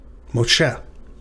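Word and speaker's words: משה: a lot cooler, but it is harder to pronounce for us English speakers. All right, next up. Moshe, or Moshe. Moshe.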